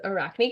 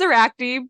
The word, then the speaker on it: Arachne: pretty sure it's Arachne, but not 100% sure.